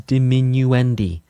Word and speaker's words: diminuendi: It's technically to corre It is technically correct to pronounce multiples of crescendo as crescendi and multiples of diminuendo as diminuendi. This is because in Italian words that are plural usually end with an i like spaetto to spaghetti.